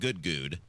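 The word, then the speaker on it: Goode: Now, we call him Good because it's spelled G O O D E is how he spells his name.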